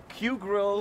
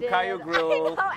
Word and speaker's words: Kyu Grill: We went to Q Grill, yes, which we were calling Cayo Grill, and KYU Grill.